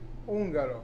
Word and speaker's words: Ungaro: Ungaro.